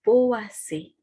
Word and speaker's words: Poaceae: Nah, ini dibacanya adalah Poaceae.